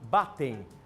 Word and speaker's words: Batten: intervalo Doutora é batem como que é a pronúncia da doença é batem batem e Doutora é uma doença que não tem